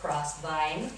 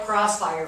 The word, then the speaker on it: Crossvine: And I'm going to make sure I say it right, Crossvine. Right. I have tried to call it Crossfire for 6 months.